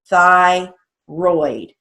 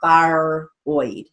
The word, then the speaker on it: thyroid: don't hear the break-in you don't say thyroid no it's thigh roid so right there that's a great example of not really having a choice because you hear the break after thigh thigh and then roid roid it's not fire oid okay that we have